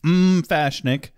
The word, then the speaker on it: Fashnik: and he confirms that it is pronounced Fashnik, like cookies. However, it is quite different from cookies.